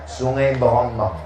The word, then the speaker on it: Sungai Berombang: Tulisannya Se Berombang. Cara membacanya Sungai Berombang.